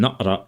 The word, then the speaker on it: naqra: Note that the letter Q in et and na'ra is pronounced as a glottal stop, like the consonant qaf in many Arabic dialects.